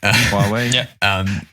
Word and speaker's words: Huawei: Huawei?